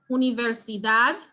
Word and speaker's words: universidad: talking about right so so we look at the word universidad and we look at where the emphasis is going to be on the that which is the last syllable because the word ends with a consonant which is not an s and it doesn't have a written tilde or or accent mark um i'm seeing angelina